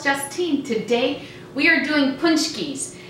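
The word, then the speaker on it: pączki: Today we are doing paczkis, and it's spelled P-A-C-Z-K-I, which is a weird spelling for the way it's pronounced. It's Polish, and you have it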